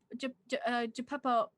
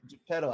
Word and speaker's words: Geppetto: Geppetto. Oh my God. Geppetto. Pep. Whoa. How do you say his name? I don't know now. Geppetto? Geppetto.